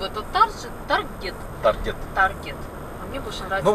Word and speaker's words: Target: две недели в этот Таргет. Таргет. Таргет. Ну, в общем, по привычке из Белоруссии и по правилам как бы надо прочитать таржет. Но это слово исключение, оно читается таргет.